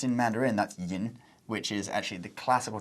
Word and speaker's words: 飲: So in Mandarin we say 喝 to mean to drink, and in Cantonese we say 飲, and then pronounced in Mandarin that's yin, which is actually the classical Chinese way of saying drink.